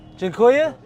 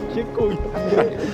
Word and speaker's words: Dziękuję: Dziękuję.